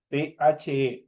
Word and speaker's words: the: THE. Se pronuncia como de.